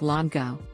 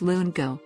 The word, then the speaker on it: lungo: say espresso it's espresso they call the long espresso drink longo it's lungo and so on then